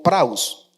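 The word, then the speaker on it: πραΰς: Pues resulta que eh esta palabra eh manso significa eh vamos a traerlo, es una palabra griega que eh transliterada al español eh se pronuncia como praus. Y esta palabra praus quiere decir humilde, gentil o apacible.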